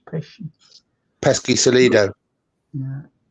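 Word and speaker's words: Pesci: Joe pish Jo pish that's how you pronounce his name not pesky it's pesy pesky celo yeah it's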